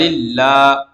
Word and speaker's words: اللہ: یہاں بھی اللہ کے لام سے پہلے زیر آئی ہے تو جو ہے باریک پڑھیں گے، اللہ کو، اللہ کے لام کو باریک پڑھیں گے.